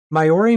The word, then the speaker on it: Māori: Maori mythology tells of the Kakako board.